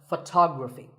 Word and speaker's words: photography: next word is photography we say photograph but photography so the first syllable becomes and the stress goes to the second syllable tog Rafi so photography in the same way